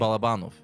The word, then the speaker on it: Balabanov: Balabanov. That's how you do it. That's the mechanically correct, objectively true way to say it.